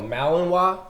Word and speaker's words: Malinois: typically uh and I'm I'm probably gonna say this wrong I know a German Shepherd or a malamute Malinois Malinois see I knew I was going to say it wrong it's called Malinois Malinois yeah yeah those are